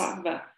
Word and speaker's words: sattva: The W, this probably not very relevant, but the W in Sanskrit is pretty much pronounced like a V. So it's a sattva.